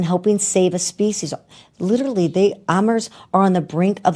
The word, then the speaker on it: Amur: Louis Zoo just welcomed 2 adorable and critically endangered, how do you say Amur, AMUR leopard. Lemur. No, it's it's Amur.